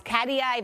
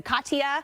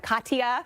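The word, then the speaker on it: Katia: we have tropical storms Cadia even Katya that's the way you pronounce that one Katya uh we're going to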